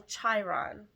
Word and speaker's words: Chiron: Chiron begins with, I'm saying it wrong, Chiron begins with the CH of chariot and child, so Chiron.